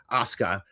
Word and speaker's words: Asuka: You don't always pronounce the U properly. So asuka is like shin.